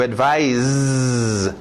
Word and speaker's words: advise: To advise. Olha o som de S's.